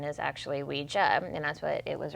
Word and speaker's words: Ouija: Real briefly, so the term Ouija or Ouija is taken from the French oui for yes and the German ja for yes, Ouija. So the correct pronunciation is actually Ouija, and that's what it was originally called.